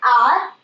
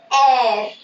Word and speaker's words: R: It is not R, it is air, air.